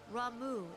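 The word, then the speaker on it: Ramuh: Rau is returned unto the forest. Emphasis on the second syllable.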